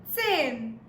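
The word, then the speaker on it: zehn: so 10 is what 10 not forgetting the T yeah guys so it becomes sin all right let's move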